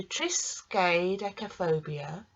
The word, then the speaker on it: triskaidekaphobia: use of the word, we can divide it down so that we say triskaidekaphobia. So let's try that again. Triskaidekaphobia. Doesn't sound right, does it? Let's try it again. Triskaidekaphobia. So triskaidekaphobia is the correct way to say it, is extreme superstition.